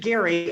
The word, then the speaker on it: Gerry: He pronounced it Eldridge Gary, and it's now gerrymandering.